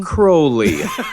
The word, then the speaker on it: Crowley: Crowley is how you pronounce it.